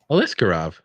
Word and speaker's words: Aliskerov: Aliskerov.